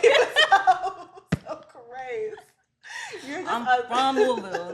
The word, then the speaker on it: Louisville: I'm from Louisville. Like, how you say it right? Like, I'm from Louisville.